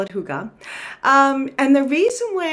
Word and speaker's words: hygge: but it's actually pronounced Huga which is really odd but cool um because my English speaking brain just kind of looks at those letters together and and feels like it should sound different but I'm going to